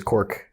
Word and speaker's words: Cork: it's quite common there my last name is cork which rhymes with dork so what we're doing